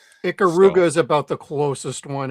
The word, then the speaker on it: Ikaruga: Uh, I always say Iuga, but other people say like, "No, you're saying it wrong." It's Icaruga. It is Ikaruga.